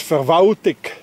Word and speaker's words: Verwaltung: Oh, like for instance, the German word Verwaltung, that means the administration. In Bern, that's being pronounced as Verwaltig. Anybody hears an L? No, it disappeared.